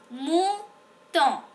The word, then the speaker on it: mouton: Le mouton. M-U-O-U, c'est OU. Alors, mouton. Et O-N, c'est on. Alors, mouton. Le mouton.